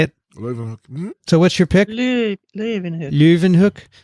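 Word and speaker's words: Leeuwenhoek: so what's your pick leuven hook it's louvin i think luvenhook yeah dixon how would you say it ravenhook floyvan it's luv and kathy knows the phonetics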